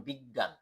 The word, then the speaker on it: বিজ্ঞান: উচ্চারণ হয় যেমন জ্ঞান আর এটা যদি মাঝে থাকে তাহলে গ হবে হবে দুবার যেমন বিজ্ঞান তারপর হচ্ছে গ নাম্বার